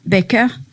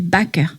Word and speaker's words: Baker: C'est pour ça qu'elle n'a pas voulu qu'on l'appelle Baker, mais Baker. Elle a dit, moi, je suis française et je veux qu'on prononce à la française.